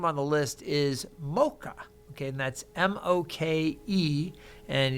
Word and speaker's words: Moke: Moke or something, or Moki. But when I looked into the Hawaiian name pronunciation, it said Mocha, like the sound like pet or jet, Mocha on the E.